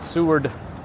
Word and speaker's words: Seward: All right, Seward Park. I have to like extra pronounce the D to make sure you don't think I'm saying sewer.